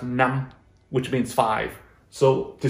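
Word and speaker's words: năm: a short i'm sorry instead of a long vowel it'd be a short vowel all right if we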